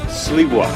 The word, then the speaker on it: Sliwa: That's Lisa Sliwa.